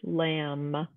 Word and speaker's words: lamb: we say the word lamb, combing, or crumbs. We don't say lamb, or combing, or crumbs. We say just the letter M, and that letter B is our silent letter.